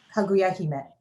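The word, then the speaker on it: Kaguya-hime: And Airi, will you please pronounce the name of the folk tale that I found? Kaguya Hime.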